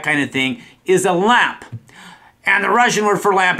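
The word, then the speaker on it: лампа: or office that kind of thing is a lamp and the Russian word for lamp is very similar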